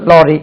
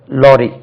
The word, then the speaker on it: lorry: லாரி இப்படி இருக்கும், LORRY இப்படி எழுதுவாங்க, லாரி, லாரி. நீங்க இந்த சவுண்ட் வந்து ஆ என்று உச்சரித்து பழக வேண்டும்.